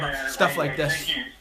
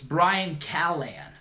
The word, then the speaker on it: Callen: I'm cool with everybody I don't get mad Callahan and then watch awesome dude sounds fun yeah